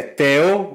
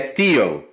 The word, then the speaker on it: Tel: Primeiro porque muitos israelenses não sabem como pronunciar Tel. Se é Tel ou se é Tio. Porque pode ser a pronúncia mais americanizada, né? Mais anglicizada do nome.